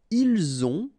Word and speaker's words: ils ont: the two, vous avez, ils ont, okay, final T not pronounced, and then we make the liaison, ils ont, elles ont.